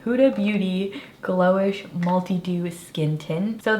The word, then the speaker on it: Huda Beauty: month let's start with the cute booty that's definitely not how you say it huda beauty glow-ish multi-do skin tint